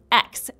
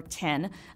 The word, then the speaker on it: X: entire developer experience and yes the name is pronounced X like Liam Hemsworth Thanks Martin for that joke not Eck or ten I for one thought that we should have